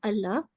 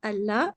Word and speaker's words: Allah: was also thick uh however in the word Allah is pronounce thin if the letter before carries a casra so again Allah's name is here and this lamb will be pronounced thin even though it looks the same but it is because of the KAS beforehand so with this we